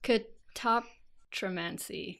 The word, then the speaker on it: catoptromancy: Oh, it doesn't have the stress properly. Oh, yeah. Yeah, where's the main stress? Yeah, I know. Catoptromancy. Catoptromancy. Catoptromancy.